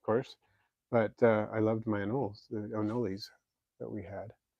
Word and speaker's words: anole: but I loved my anoles, the anoles that we had. I grew up calling them anoles. Anole is a more accurate way to pronounce it.